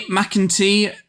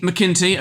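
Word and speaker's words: McIntee: McIntyre. Is that how you pronounce his name? McKinty.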